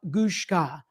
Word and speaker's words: Lushka: to the jury um name is leil lushka rhymes with Babushka um she is the